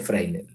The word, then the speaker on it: Fresnel: zona de freel sí se escribe fresnel se pronuncia frel Qué es esa zona